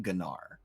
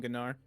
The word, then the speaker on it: Gnar: and nar was released i didn't know how to pronounce gnar i remember specifically calling it gennar oh yo i used